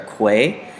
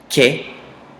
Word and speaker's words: que: a qu or a que. The U is almost silent and you pronounce it as if it's a K. So it's just que and not que. You don't want to sound silly.